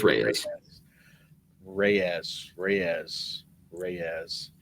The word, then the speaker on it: Reyes: what I did know I knew it wasn't rise which I heard people like I've heard people pronounce it as Dominic rise like no I